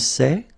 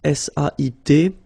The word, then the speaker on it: sait: Okay, so if you look carefully here, you write it S-A-I-S, well, the same way here. Here you write it S-A-I-T, okay, but then phonetically these three forms are the same, and it's sait, okay?